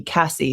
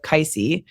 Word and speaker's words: Kaisie: one I and then everyone called me Cassie instead of kisy and so now I